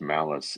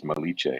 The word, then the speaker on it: Malice: you by the way it's not pronounced malice it's Italian it's malich malich good sorry perfect perfect